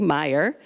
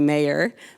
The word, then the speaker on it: Maier: presenting somewhere where people pronounce my last name correctly Meyer because in America whenever I'm introduced they say Mayer but here they say Meyer so that's right yeah